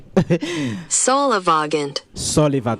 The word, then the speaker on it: solivagant: Let me see if I have the correct pronunciation here. But let's see if ngwanyana o Wale teka le sesa. Solivagant.